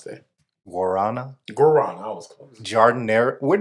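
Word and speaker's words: guaraná: How do you pronounce that? Guarana? Guarana.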